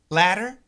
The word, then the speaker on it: latter: tter ladder the ladder absolutely a flap T and when we do a flap T there shouldn't really be any vibration there shouldn't be any vibration like an a D but ladder ladder ladder